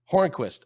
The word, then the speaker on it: Hornqvist: Is it Patrick Hornqvist? How do you pronounce his last name? No V, just Hornqvist. Hornqvist.